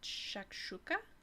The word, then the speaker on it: shakshuka: probably saying it wrong but I think it's pronounced shakshuka uh it's like a tomato sauce stew kind